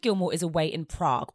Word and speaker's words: Prague: is a away in Prague Although our Queen Emily pronounces it progue your grandfather called last night and told me to let you know he's bringing you back something very special from progue Wow progue but given